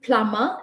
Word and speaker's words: plumber: We did plumber, in which B is silent.